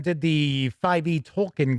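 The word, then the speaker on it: Tolkien: MC points out that cubicle 7 did the 5e Tolken game toolken if you prefer that pronunciation before Freely got it.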